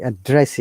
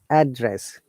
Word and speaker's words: address: how do I address you? Look at this. These two are two different stress. Address, noun, your location. When we say address, it is verb.